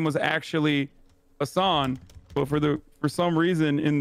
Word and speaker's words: Hasan: Is it true that it's pronounced Asham? No, it's Hassan. Hassan. How can Azan be pronounced Hassan? That doesn't make any sense. My name is Hasan, not Azan.